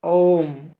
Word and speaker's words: ওম: উচ্চারণটা হবে এরকম, অ উ ম। প্রথমে কিছুটা সময় অ এবং তারপরে উ ম, ওম, এইরকম উচ্চারণ হবে।